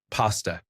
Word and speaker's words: pasta: Pasta. I'd pronounce the first syllable as the word pass, rather than the word paw.